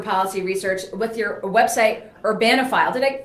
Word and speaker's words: Urbanophile: senior fellow at the Manhattan Institute for Policy Research with your website Urbanophile. Did I pronounce that correctly?